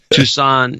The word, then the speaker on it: Tucson: Arizona by the way Tucson Tucson Arizona that's the way it's pronounced from now on Robert Marsh 60 said